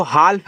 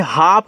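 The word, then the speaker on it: half: एच ए एल पी इसको हाल्फ नहीं हाफ पढ़ते हैं। हाफ का मतलब आधा होता है ना? तो हल्फ मत पढ़िएगा। देखो एल के बाद एफ आया तो बोला ना कि भैया एफ आ जाए, डी आ जाए, के आ जाए, एम आ जाए, साइलेंट रहता है एल। तो यहां भी आपका एल साइलेंट है।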